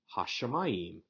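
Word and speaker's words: הַשָּׁמַיִם: This allows the word to remain hashamayim, allowing us to keep the pronunciation of the short A as distinct as it was back in the day when this was originally written, and then to keep that longer A as the second syllable under the shin.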